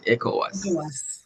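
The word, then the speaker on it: ECOWAS: But um it's easy to you see if you want nobody says E C O W A S unless you're reading what the person would say is echoas.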